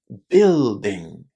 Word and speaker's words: building: But there is a vowel in this word that we don't pronounce and that vowel is the letter U. So we say building. Building. Again lots of students are having problems here but remember it's just a short I at the beginning of this word building.